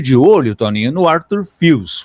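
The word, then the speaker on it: Fils: E eu sempre fiquei muito de olho, Toninho, no Arthur FS, o Arthur Fis, né, que os franceses falam na pronúncia correta, que jogadores de extrema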